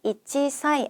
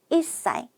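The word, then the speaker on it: 一歳: 될 부분만 먼저 살펴볼게요 한 살은 치사이 아니고요 이사이 여덟 살은 핫사이 열살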